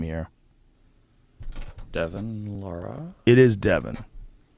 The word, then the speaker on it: Larratt: his name here devin laura it is devin how do you say it's devin laureate right laura l-a-r-r-a yes i knew his brother